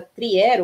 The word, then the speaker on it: Trier: Bom, o Marx ele nasceu em 1818, numa cidadezinha alemã chamada Trier ou Treveris, dependendo da pronúncia, e de uma família de, digamos assim, de classe média, né, o que nós diríamos hoje.